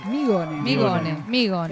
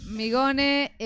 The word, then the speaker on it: Mignone: Bueno, ahí teníamos a Migone. ¿Cómo se pronuncia? Migone. Es una eterna lucha. No sos el único que acá tampoco. No, Migone, periodista del portal Tigre de Papel, analista, egresado de TEA.